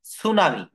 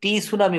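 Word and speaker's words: tsunami: হবে বলেন তো টি অর্থাৎ এটার উচ্চারণ কিন্তু টি সুনামি বলা যাবে না এটার উচ্চারণটা কিন্তু টি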